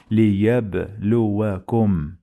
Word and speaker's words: ليبلوكم: You say وَالْحَيَاةَ لِيَبْلُوَكُمْ. ليبلوكم ليبلوكم لي لي لي ليا ليا ليا ليب ليب ليب ليب ليب لو ليبلو ليبلو. We have sukun here. We must pause on ba.